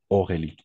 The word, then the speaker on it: Aurélie: Aurélie voilà c'est ça les combinaisons des voyelles a et on va prononcer comme un o d'accord c'est-à-dire Aurélie toujours d'accord Aurélie automatique